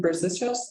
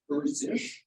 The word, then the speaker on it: Berzish: Okay, and is your last name Berzicios? Is that how? You're close. Okay, how do I? I scribbled, so it's not your. Yes, yeah. It's Berzish. Okay, so how do you spell it?